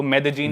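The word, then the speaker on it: Medellín: उसकी एक सिटी है मेदजीन स्पेलिंग में उसमें डबल एल आते हैं मेदलीन होता है लेकिन कोलंबन स्पेनिश में ल को ज बोलते हैं तो मेदजीन वो शायद उसकी मेन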